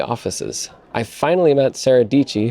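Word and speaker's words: Dietschy: I finally met Sarah dichi whose name rhymes with peachy and said hi I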